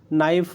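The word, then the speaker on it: knife: नाइफ है, के नाइफ नहीं होगा, नाइफ। नॉलेज, नॉलेज, ठीक है।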